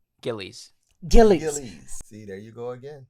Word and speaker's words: Gillies: cast put on his characters was uh Liz Gillis did I say her name right Gillies see there you go again Liz's character um